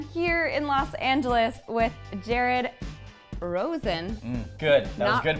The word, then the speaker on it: Jared Rosen: Natasha I am here in Los Angeles with Jared Rosen good that was good pronunciation can you say my last name I